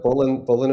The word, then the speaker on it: Bullen: Sounds a lot like Bullen a China shop.